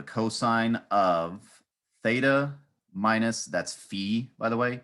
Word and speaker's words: phi: of theta minus that's Fe by the way Phi but pronounced Fe so the cosine identity